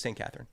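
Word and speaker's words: Sainte-Catherine: Cath, how do you say it? Is it St. Catherine? Yeah, that was No, just St. Catherine.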